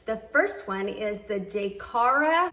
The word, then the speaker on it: Jkara: I think it's pronounced Jaycara, New York, women's beaded evening gown dress, size 12P.